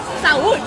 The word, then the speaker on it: saúde: Saúde!